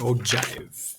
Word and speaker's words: ogive: an old jive yes oh jive there's how you're supposed to pronounce it all right just kind